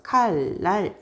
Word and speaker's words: 칼날: 그러면 예문을 한번 보자 칼날 이러면 음이 뒤에 있는 비하고 만나요 그래서 비인 니은이 유음 바뀌는게 편하거든요 발음할 때요 그래서 칼날 이렇게 되죠 달님도 마찬가지예요 앞에 있는